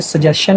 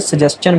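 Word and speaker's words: suggestion: सजेस्ट तक ठीक है, अगर हम इसको आई ओ एन आगे लगा देंगे ना तो फिर ये सजेशन नहीं बनेगा, मोस्टली लोग इसको गलत प्रोनाउंस करते हैं, यह सजेस्चन बनेगा।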